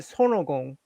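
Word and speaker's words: 손오공: By the way, in Korea we call it sonogong. How do you guys pronounce it? Sonogong. Sonukong. Sonukong. Yeah. Son Wukong. Sonukong. Yes, we are very distinct. Son O Gong, 3 syllables.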